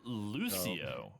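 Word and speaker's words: Lúcio: Lucio I like the hints I was giving you was Lou for Lucario. Yeah, Lou. The Lou. Um and then the other part was place that rhymes with a name of a location. Lucio Rio.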